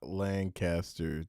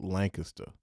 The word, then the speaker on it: Lancaster: If you don't know anything about Dallas, it's not Lancaster. They pronounce it Lancaster.